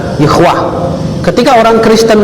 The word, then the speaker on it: Yahweh: Ini dibaca Yahweh. Yahweh itu nama Allah menurut Yahudi. Jadi 4 huruf suci, YHWH. Kalau kita 4 huruf suci juga, alif lam lam ha dibaca Allah. Ini YHWH dibaca Yahweh.